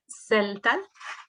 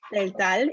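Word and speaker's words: Tseltal: Sandra began her professional career as a community organizer, working with Maya, if you could help me pronounce this. Celtal. Celtal, indigenous woman in Chiapas, Mexico from 1999 to 2008.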